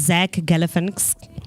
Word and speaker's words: Zach Galifianakis: So first on our celebrity birthdays, I've been looking at this name and I'm gonna fail for pronouncing the same name. So our first celebrity birthday is Zach Galifianakis.